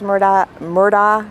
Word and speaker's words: Murdaugh: Lots of people say Alex Murdaugh. It's I try to say Alex Murdaugh because whenever I'm in conversation with local people down here, they always correct me. So I just go with Alex Murdaugh just to be consistent with what people here who know him firsthand say he pronounced his name. But you'll hear it both ways.